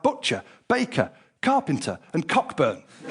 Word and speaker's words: Cockburn: butcher, baker, carpenter, and cockburn. Of course, they insist on pronouncing it coburn, but we know the truth.